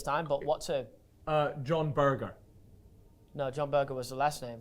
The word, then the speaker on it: Berger: Now, this Berger is spelled B-E-R-G-E-R, so it's like Berger. Instead of burger, it's Berger.